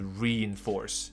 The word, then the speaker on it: reinforce: reinforce。像我举到一个例子，是我们高速公路上那一种分隔岛的混凝土，我们叫它强化的钢筋混凝土，那个东西就叫做 reinforced concrete。所以这个词的发音还蛮有趣的，你就必须要把它念成 reinforce，所以不要把它念成 rein。这个 rein 这个字本身也是有这个字的，它的发音是 rain。OK。那他的意思是去统治或之类的，那就完全不一样，那发音也不同，所以这边是 reinforce，它有两个音节在前面 reinforce，所以 reinforced concrete 是我刚刚说的补充，就是什么混凝土之类的。好，然后接下来我们再听下去。